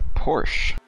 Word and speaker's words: Porsche: Porsche all night now, just to piss off Milt. That pisses me off. Really. It's a two-syllable word.